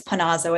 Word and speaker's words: Pinazzo: me excuse me if i mispronounced your name um it's quite all right it's pinazzo it's a confusing uh